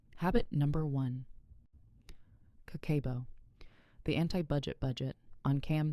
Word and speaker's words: kakeibo: In Japan, millions of people, mostly women historically, use something called kakeibo. Pronounced kakeibo.